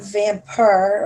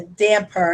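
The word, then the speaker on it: dhampir: thank you Bookworm uh I guess it's not vamper or Vamp it's a damper it's VM that's how they pronounce it V dumare huh that's very interesting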